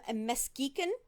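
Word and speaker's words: Muskegon: now hood had come to uh detroit from mesquican michigan and i did pronounce that right that northern michigan town yes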